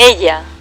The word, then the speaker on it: ella: Ella es mecánica y trabaja en un taller. Taller. Ella, so the double L is spelled as yeah.